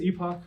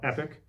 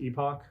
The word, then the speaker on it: Epoch: it yeah it is Epoch um you know in America our pronunciation we were taught epic pretty much everywhere else in the world is pronounced Epoch um and that's that's